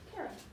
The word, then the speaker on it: Karam: Karam.